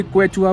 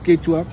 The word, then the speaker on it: Quechua: हम केचुआ, हम उसको कोई क्वेचुआ बोलता है, कोई कुछ बोलता है, द रियल प्रोनाउंसिएशन इज केचुआ।